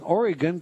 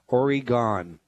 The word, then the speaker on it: Oregon: like demon tomor thank you and thanks for pronouncing Oregon correctly many times out of Staters mispronounce it oryon well you're more than welcome desire and I